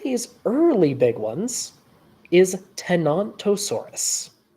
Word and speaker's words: Tenontosaurus: early big ones is tenontosaurus not vosa tenontosaurus yes not a thosa we we have a we have a pronunciation war going on here uh no it's just there's a there's a dinosaur that sounds vaguely similar that sometimes gets mixed up with this one um but at any